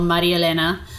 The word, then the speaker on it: Marielena: Uh, well, it's Maria Elena, pronounced an espanol, Maria Elena.